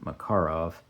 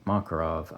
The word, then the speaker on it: Makarov: It's an East German Makarov, and I do believe it's correct to accent the second syllable, Makarov, although if you say Makarov, I'm not going to blame you.